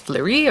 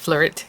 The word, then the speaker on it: Fleurit: i hope i'm pronouncing it right it's the flourished floret usually in french if it's a french word you don't really pronounce the t but i'm not sure it's flurry or just flirt either way um beautiful